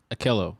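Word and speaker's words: Ahkello: bring in a cornerback a kill akalo witherspoon if i'm chopping that name but i remember how you say it mike akillo i said it right okay cool how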